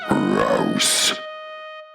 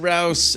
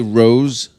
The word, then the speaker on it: Rouse: Rouse? With an R. Oh, okay. Rower. Some people say Rose Right. or Roose. Mm-hmm.